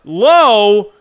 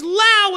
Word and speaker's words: Lowe: pronounce brandon lao wrong it's lao it's not low it's like okay i